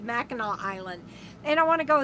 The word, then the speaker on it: Mackinac Island: sorry mackinac mackinaw island it's spelled so odd but it's pronounced i believe mackinaw island and i want to